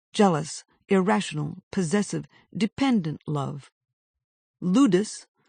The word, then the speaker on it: ludus: Ludus, rhymes with Brutus, derives from the Latin word for play.